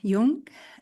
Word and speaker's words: Young: Is Young or Jung? How do you say it? Young. Young, okay, just to make sure.